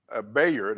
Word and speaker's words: Bayard: But Bayard Ruskin, Bayard as he pronounces it, I think that's the way it's spelled, B-A-Y-H-A-R-D.